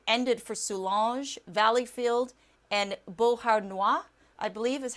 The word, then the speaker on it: Beauharnois: And the tornado warning ended for Solange, Valleyfield, and Beauharnois, I believe is how you say that.